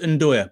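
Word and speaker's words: 'nduja: Because it's pronounced Ndoya, by the way, Michael. Yeah, it's a kind of Ndoya.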